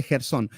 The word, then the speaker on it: Gersón: Gersón, Coat o Gerson, no sé, pero me parece que tiene acento en la voz, así que Gersón.